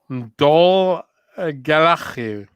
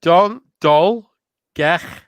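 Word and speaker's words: Dolgellau: Dol Galachiu. How did I do? The first third was perfect. Okay, let me try again. Dol. Gel. No, because it's 2 L's. All right, Dol, Gech.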